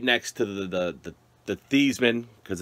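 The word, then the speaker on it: Theismann: to the the the thiesman because it's not theisman it's thiesman diedman reminds what heisman i don't know my mumbled saying that but the heisman rhymes with a heisman and it's stevesmen uh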